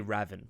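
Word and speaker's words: Ravn: name is pronounced raven just straight up raven i thought it would be raven but i think it's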